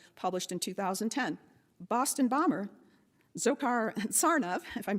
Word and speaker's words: Dzhokhar: Boston bomber Dzhokhar Tsarnaev, if I'm pronouncing that correctly, said that reading a It's pronounced Joker.